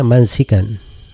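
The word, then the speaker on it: مَنسِكًا: Dan ada yang membacanya mansikan, ya. Ada yang membacanya mansikan, seperti masjid, ya.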